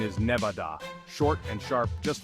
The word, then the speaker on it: Nevada: casinos scorching deserts and a state name that often gets an extra syllable it doesn't need we're talking about Nevada now you might be tempted to say Nevada like you're adding a